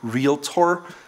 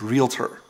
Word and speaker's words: realtor: foreigners because the c200 and think it's called real tour but it's not it's realtor twelve we deal with computers are any kind